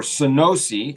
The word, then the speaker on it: Sunosi: Researchers found that solriamfetol, okay, or Sunosi, I think is how that is pronounced, a wake-promoting drug, improved alertness in early morning shift workers with shift work disorder.